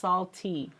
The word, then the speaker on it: SALTT: It's actually pronounced SALTT. So There's 2 T's.